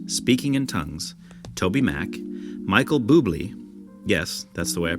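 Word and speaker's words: Bublé: music, worship postures, speaking in tongues, TobyMac, Michael Buble, yes, that's the way I pronounce it, Ren, the rapper, not Stimpy's friend,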